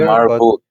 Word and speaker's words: admirable: Admire, the verb is It's admire, admirable. but this one is admirable, not admirable. No, that's how we pronounce it in Australia.